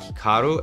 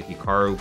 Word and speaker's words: Hikaru: Now, even myself, when I pronounce my name, it's definitely more Americanized versus Japanese. Certainly, if I was pronouncing it correctly, it would be more like Hikaru as opposed to Hikaru, but I've spent so